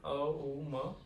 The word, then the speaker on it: ओम: तो इसका उच्चारण अ, उ, म इस तरीके से इसमें तीनों अक्षर का उच्चारण इसमें आना जरूरी है।